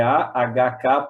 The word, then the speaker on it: AHK: É a pronúncia do H, ela é H, né? Então é AHK Paraná.